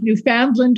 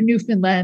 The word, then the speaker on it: Newfoundland: That's how you pronounce it. Yeah, there's two ways: Newfoundland or Newfoundland.